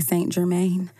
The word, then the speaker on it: St. Germain: I was going to say St. Germain. It's St. Germain. It's St. Germain. That's like French.